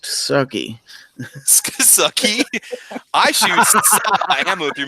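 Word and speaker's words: SCCY: Vandalistica says it's pronounced sucky.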